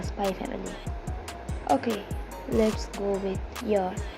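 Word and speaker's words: SPY×FAMILY: Spike's family oh sorry the eggs isn't supposed to be pronounced the Spy family okay let's go with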